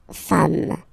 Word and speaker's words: femmes: form, and then you just add this S at the end, and as we said, you don't pronounce it, so you get des femmes, okay?